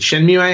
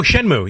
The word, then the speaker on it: Shenmue: a game we did not talk about that was phenomenal on the Dreamcast, and most remember was is it Shenmue? How do you say that? Oh, Shenmue, yes.